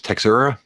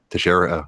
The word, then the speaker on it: Teixeira: Is that the UFC Smith versus Texera? Well, I'm sure I can't say his name. Teixeira. Right? Teixeira. I was closer than I thought I was going to be.